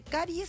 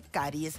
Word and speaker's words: caries: en el caso de la palabra caries que siempre va con s no se dice caries se dice caries y aunque tengas plural una caries tenés una caries ahí lo que hay